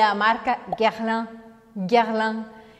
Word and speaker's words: Guerlain: Esse final é um som anasalado que você tem que abrir um sorriso para fazer. Guerlain. Guerlain, tá? Não é nada de pronunciar o A e o I separados. Você não vai falar Guerlain, Guerlain, nada disso. É Guerlain com um sorrisão.